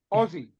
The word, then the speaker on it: Aussie: the Americans are awesome say it like Ozzy Osbourne for Black Sabbath Ozzy Aussie that's how you say it yeah otherwise you sound like a South African exactly exactly I'm glad